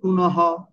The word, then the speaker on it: পুনঃ: ঠিক আছে, আবার দেখুন পুনঃ, পুনঃ, পুনঃ শেষে আছে, শব্দের শেষে যদি থাকে তাহলে কি হবে, তাহলে গতাহা, শব্দের শেষে থাকলে।